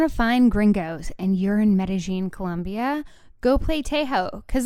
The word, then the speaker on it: Medellín: territorial about it it's why in meta-gene they pronounce it meta-gene right and if you're not from meta-gene you might pronounce it medellin right and the locals meta-gene yeah okay maybe